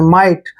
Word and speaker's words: might: Next word MIGHT, इसको मिगट नहीं पढ़ना है। देखिए MI को माई पढ़ेंगे, ऐसे माई। और टी से पहले फिर आ गया GH, इसको आपने नहीं पढ़ना है, साइलेंट कर देना है। और टी को टे पढ़ेंगे। माइट, माइट मीन्स होता है हो सकता है।